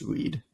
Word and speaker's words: Read: somebody named Ronald red his last name's pronounced Reed o-e-a-d and um Luigi